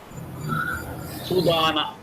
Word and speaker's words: sudana: Here the stress is on dana. Sudana.